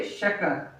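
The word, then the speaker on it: chacun: In English we say each but in French we say shakan.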